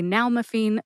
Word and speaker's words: nalmefene: If you know someone who would like to learn how to say nal-me-feen, Zurnai, or Opvee, please share this episode with them.